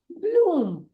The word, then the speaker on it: bloom: इसीलिए BLOOM होगा ब्लूम, ब्लूम।